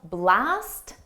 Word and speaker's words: blast: And notice how blast and last, you don't hear the T in them.